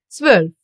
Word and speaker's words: zwölf: Together they get pronounced as oi, like in Europa, neu, or heute. Zwölf.